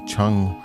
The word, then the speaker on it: 场: Chang rhymes with fang, like defang.